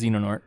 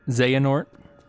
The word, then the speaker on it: Xehanort: to we got to keep saying it wrong sorry guys hate to do it to you but uh it's it's Xenon nort xehanort nah it's it's Xenon nort you can become real